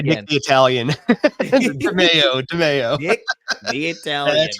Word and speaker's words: Demao: confused on the Just pronunciation say Nick again. the Italian. DeMeo.